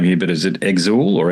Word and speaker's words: Exul: You you've chosen reading from the press, you've chosen to perform Citadel and I might mispronounce the album name here, but is it Exel or Exile? Yeah, Exel. Exel.